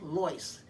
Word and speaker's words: Lois: next one is lois my mother never said lois they always pronounced her name as loice as in l-o-y-c-e but it's just easier to call her lois now because that's what everybody else calls her now these four women beat